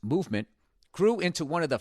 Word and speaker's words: MVMT: MVMT, pronounced movement, grew into one of the fastest-growing watch brands, shipping to over 160 countries across the globe.